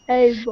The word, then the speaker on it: able: Able. Recuerda que las terminaciones ble, gle, se pronuncian bol, pol, gol, también pril, ¿no? Se pronuncia prol, ¿sí? Entonces, bol, able.